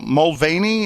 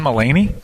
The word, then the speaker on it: Mulaney: Is it James Mulvaney? How do you pronounce his? John Mulaney? There you go.